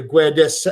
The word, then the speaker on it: Guedes: Then you get a Guedes. I don't know how to pronounce his name.